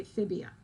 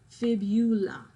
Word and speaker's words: fibula: is fib eula okay people tend to say fibia tibia fibula okay if you need to